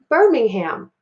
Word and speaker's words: Birmingham: together that would say Birmingham and again I've got to look here I have IR and notice that I don't really hear that I sound because the R is bossy and controls